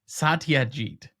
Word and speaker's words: Satyajit: Satyajit Ray. No, it's not San, it's Sa. Satyajit.